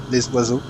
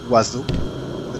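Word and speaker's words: l'oiseau: with my English friends the French Ro for the birds L wazo um it's for the pronunciation it's w a o wazo right in it is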